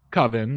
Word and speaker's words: Coven: which is spelled and should be pronounced coven like a coven of witches but they get it